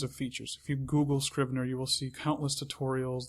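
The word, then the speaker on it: Scrivener: It's called Scriber. That's uh it's spelled S C R I V N E R.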